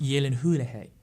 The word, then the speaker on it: Gyllenhaal: right it's actually Hulihee Lebanon is it pronounced Gyllenhaal yeah Gyllenhaal it's pronounced Yi Lin who - hey there's something on those lines there's the person